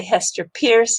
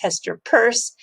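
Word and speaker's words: Hester Peirce: say siam commercial bank and please don't say hester pierce it's hester purse and the most recent one i i learned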